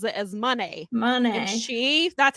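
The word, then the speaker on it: Moné: want to make this so Kevin Kelly was pronouncing it as Monet like most of us have but she pronounced Mercedes pronounces it as money money and chief that's how she says it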